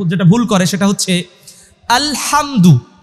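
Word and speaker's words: الحمد: ভুল করে সেটা হচ্ছে আলহামদু এই হা উচ্চারণে অনেকেই ভুল তাই না এই ভুলটা কিন্তু অনেকেই স্বাভাবিকভাবে উচ্চারণ করে আলহামদুলিল্লাহি রাব্বিল আলামিন কিন্তু না আলহামদুলিল্লাহি রাব্বিল আলামিন আলহামদু আলহামদু এর উচ্চারণে কিন্তু অনেকে ভুল করে এইগুলো আমাদেরকে শিখতে হবে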